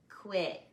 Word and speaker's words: quit: star over it and whenever we have that star consonant the vowel sound is what some teachers call short a short sound i don't really like that because sometimes the short sounds are actually long so i call it the silly sound repeat quit quit quit quit and you'll notice the t sound is really gentle quit quick good great